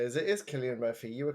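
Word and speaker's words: Cillian Murphy: well, the thing I want to say is it is Killian Murphy.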